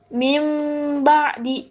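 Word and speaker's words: مِنْ بَعْدِ: Nah, ini kan ada nun mati bertemu ba. Jadi nunnya tidak dibaca. Dibacanya gimana, Bu? Bacanya mim mim ba'di.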